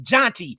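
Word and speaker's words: Jeanty: Matter of fact, let's get into the Genty discussion. I said Genty. Jonty. His name is pronounced Jonty.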